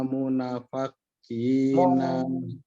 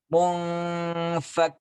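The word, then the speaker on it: منفكين: Wal musyrikina munafaqina. Munfakina. Itu ada nun tanpa sukun ya.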